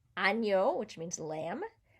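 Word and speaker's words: agneau: an and it's nia it's a different sound ano which means lamb dyna dini day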